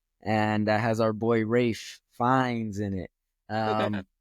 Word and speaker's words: Ralph: talking about him like this dude's name is Ralph how can it be pronounced Rafe um let me check